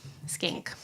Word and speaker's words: Schenck: I had to phonetically write it out. Schenck. Skank.